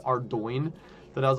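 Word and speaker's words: Ardougne: No, that's a particularly hard word. And it does not sound at all the way it's spelled. And I think it was it wasn't until I heard like one of the like developers call it call it Ardo that I was like, that's crazy.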